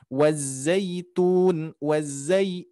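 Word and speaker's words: وَالزَّيْتُونِ: Wazaitun, wazaitun. Dicoba Pak. Wazaitun. Wazaitun. Zai, ke i. Wazaitun. Masih ke e, hati-hati. Zai. Nah, zaitun. Zaitun. I. Zai. Nah, itu wazaitun.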